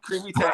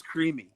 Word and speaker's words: Crimi: It's creamy, like the texture. Okay, yeah. Crimi, easy enough. That makes it easy. So Albert S. Crimi.